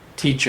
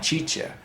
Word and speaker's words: teacher: a little and and she was saying the word teacher and she kept saying chicha and then I gave